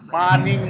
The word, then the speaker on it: morning: मोर नहीं है, इसमें हम आ बोलेंगे, लंबे वाला आ बोलेंगे, माँ, फिर उसके बाद एन मान, उसके बाद आई ई, और जो लास्ट वाला एन है उसको लंबा बोलेंगे मानी, मानिंग, नाक में ले जाएंगे ऊपर, और जो जी शब्द है पीछे उसको छोड़ देंगे, जी नहीं बोलेंगे।